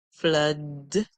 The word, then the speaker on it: flood: Our two O's here actually says O. O. You know, normally two O's would say O, or they would say U. But in this case, we hear a completely different song. We hear So we hear fl, F and L, and L, fl, and then D. Flood, flood, flood. Another word where two O's say is in the word blood.